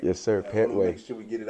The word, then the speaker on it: Pettway: Pettway, right? Yes, sir. Pettway.